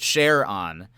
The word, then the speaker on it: Charon: do with the pronunciation most astronomers say Grundy pronounced it share on as a tip of the hat to uh to Jim and his wife but then he shrugs and says everybody flops back and forth all the time he